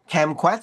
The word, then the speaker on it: kumquat: this little fruit's called kumquat. Is that the correct pronunciation? Like kumquat? Kumquat, yeah, yeah.